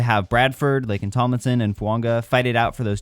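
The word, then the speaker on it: Fuaga: Fuanga, and yes, that is how you pronounce this, just like Tua Tagovailoa. There's that unwritten sound in there.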